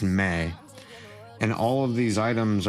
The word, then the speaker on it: me: carries all of the what is called May, M um pronounced May.